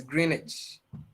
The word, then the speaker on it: Greenwich: where i come from the typical english people will not pronounce the w it's greenwich so when you go